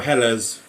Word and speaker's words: Helles: So, so a Hell's Laggera or Hela's how it's pronounced.